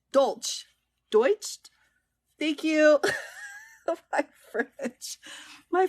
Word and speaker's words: Deutsche: I can't remember how to say the name douche dulch Deutsch thank you French my French kiss in the way Deutsche thank you thank you my relationship with Deutsche